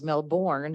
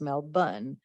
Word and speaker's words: Melbourne: in melbourne australia and i always thought it was melbourne and when we were in houston they informed us no that's not how you say it it's mel bunn so i even googled